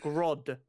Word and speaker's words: Grodd: Grodd.